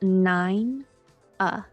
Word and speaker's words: Nina: i n a but according to several websites pronounced nine uh so nine is large and then uh is